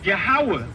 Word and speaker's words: Yahweh: Yahweh is the true spelling is YHWH. Right? That's the tetragrammaton. Right? YHWH. That pronounces Yahweh.